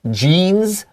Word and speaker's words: genes: You have genes, and this is a genetic condition. 没错，在这里的话，你只要看到前面4个字 gene gene 啊，就是基因 genes 就是那个基因的意思，但是它发音的时候它是 e，但是碰到变成形容词的时候变成 genetic，然后那个音第二个呢 ne 的那个 e 它会变音哦。 Genes, yes. Genes. Yeah, long e, very nice.